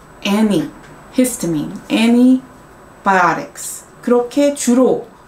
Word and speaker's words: antibiotics: 근데 제가 미국에서 살 때, 그리고 지금 여름에도 이제 미국에 저희 엄마 집에 다녀왔는데 느낀 게 미국에 있는 현지인들은 그러니까 T 발음이 안 난다. antihistamine, antibiotics 그렇게 주로 더 발음을 한다라는 거를 알려드리고 싶었어요.